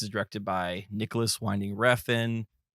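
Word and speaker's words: Refn: directed by Nicholas winding Reen is that how pronounce his last name refen yeah just how it's spelled okay yeah perfect this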